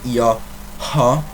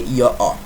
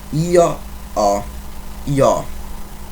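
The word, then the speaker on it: io ho: are please note that the h in italian is a silence so we don't say yo ha as an english speaker would do but we say your o the h is not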